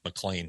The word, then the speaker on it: McLean: all you you grew up in McLean Virginia mlan McLean McAn or mlan mlan mlan mlan it's spelled McLean I know what it's okay all